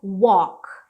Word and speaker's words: walk: Isso aqui é walk, walk. Então a gente não pronuncia o L, tá?